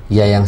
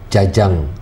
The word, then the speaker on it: Jajang: Ejaan lama dan seorang hajah. Ejaan lama, because saya lahir waktu masih ejaan lama. Nah, saya nggak mau rubah. Jadi kalau orang menyebutnya jajang, akan saya koreksi. Tapi saya tidak suka melihat nama saya di eja dengan Y. Yayang dengan Y ya, itu saya nggak senang melihatnya.